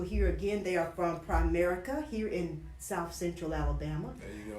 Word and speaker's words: Primerica: But anyway, they are representatives of Primerica.